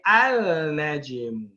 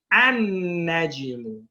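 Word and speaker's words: النجم: When we put alif and lam on that, we do not pronounce the lam. We do not say al-najim. We say an-najim.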